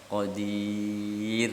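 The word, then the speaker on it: قدير: Kalau roknya disukun sebelumnya dan sebelumnya kasroh, qadir gitu ya. Qadir. Jadi bacanya ir gitu.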